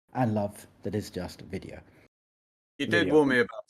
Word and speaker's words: Vidaio: It's video. You just say video the way you would have said it normally and then you spell it incorrectly with an AI in it.